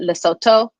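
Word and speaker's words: Lesotho: And this gray area is Leoto. Um they pronounce it Leoto because the th just has the t sound instead of a th sound.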